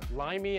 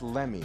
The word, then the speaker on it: Lemmy: yeah i don't know he was pronouncing it wrong he was yeah limey and it's lemmy let me see trust